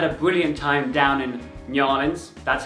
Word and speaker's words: New Orleans: brilliant time down in nans that's how the locals pronounce it it's one word it's not new or Leons it's like thisin that's